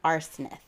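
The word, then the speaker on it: Arsinath: named Basel buub and arith I know I'm saying that last name wrong but I'm going to tell you he sounds like arsenic it's a r s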